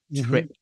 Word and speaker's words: drip: Trip, not drip. Definitely. Let me ask you about this word as well. So drip. Yeah. Is that is that d as in dog or j as in jog?